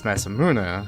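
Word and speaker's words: Masamune: in Japanese so um but that's masamuna see this is Masa and moon not menu damn I could I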